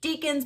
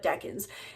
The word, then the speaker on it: decan: which turns out is not pronounced deacons but deckin and if you don't